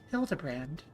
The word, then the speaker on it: Hildibrand: Um it's pronounced Hildebrand.